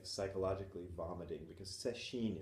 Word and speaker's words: Sesshin: like psychologically vomiting, because Sesshin is Setsu Shin, which is Setsu in this case. There's a lot of words in Japanese that are pronounced Setsu.